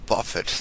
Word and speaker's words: Buffett: Next up, we got a gentleman by the name of Warren Buffett that few people have heard of. I think it's pronounced buffet.